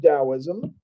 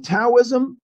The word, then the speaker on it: Taoism: it Taoism it's written taoism it's pronounced taoism and then if you're in the scene we just use D's now that gets back